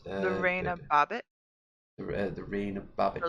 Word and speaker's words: Lorena Bobbitt: hmm like Laura Bobbitt. Was that how you pronounce her name? Laura Bobbitt. Laura Bobbitt. Lorena Bobbitt, The reign of Bobbitt.